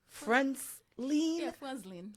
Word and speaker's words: Frantzline: the Lan yes so if we have to pronounce it we have to go friend lean friends fren oh nice can you guys say